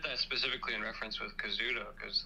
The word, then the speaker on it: Kazuto: Is it Kazuto or is it Kazuto? Yes, so it's Kazuto.